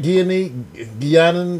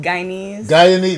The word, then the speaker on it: Guyanese: did I say it right? Guianan? What do you cut? Guyanan food? Guyanese. There you go.